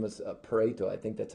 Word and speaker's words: Pareto: 1896, this uh Italian economist, his name was Pareto, I think that's how you say it.